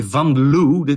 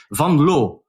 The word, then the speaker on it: Van Loo: If you want to pronounce my name, you say Vanloo. It's it's not nice in English but you should say vanl vanl okay we we we we've educated